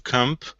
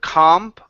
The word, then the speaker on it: camp: the word Camp okay so this is going to be an ass sound instead of comp comp a camp camp Camp good good so